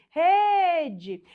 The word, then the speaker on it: rede: Vamos supor que você chame a palavra rede e você fale assim, rede. Perceba que a sílaba tônica é aquela que se estende. A sílaba que se estendeu é a penúltima sílaba.